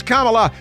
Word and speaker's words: Kamala: But it is Kamala, but she has mispronounced her own name.